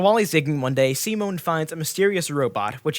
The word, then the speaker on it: Simon: territory and resources and a protagonist C Mon it's spelled Simon but it's proud C Mon because anim C Mon is a timid